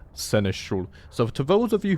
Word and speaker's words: seneschal: And at least in England, where I live, it is pronounced seneschal.